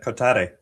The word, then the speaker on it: Kotare: Uh Kotare. Kotare, close enough? Yeah, generally the the way you say it in English is close enough.